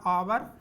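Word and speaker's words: hour: ये लिखा है एच, इसको हा नहीं पढ़ेंगे, इसका प्रोनाउंसिएशन होता है आवर या आर पढ़ते हैं, न्यू प्रोनाउंसिएशन के का, तो आवर पढ़ेंगे, आ है, क्या है,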